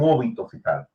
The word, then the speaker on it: óbito fetal: es aborto, es un óbito fetal. Y deben de entender esto, porque uno de los cupos... ¿Puedes repetir el término? Porque no lo escuché bien. Es óbito fetal, con acento en la O.